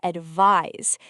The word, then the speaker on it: advise: Now the second word is advise. It is spelled with an s and we pronounce it with a buzzing z sound at the end.